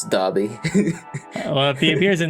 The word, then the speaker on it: Dobby: look at the picture of them is that Dopey is Dobby yeah are you sure are you sure that's how you pronounce it I always thought it was Dobby no Adobe sounds pretty funny it's Dobby well if he appears in the story I'm